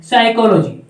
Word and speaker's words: psychology: मनोविज्ञान जिसे आप इंग्लिश में कहते हैं साइकोलॉजी। पी साइलेंट रहता है भाई, साइलेंट का मतलब चुपचाप, ये पी चुपचाप रहेगा, आगे से है साइकोलॉजी।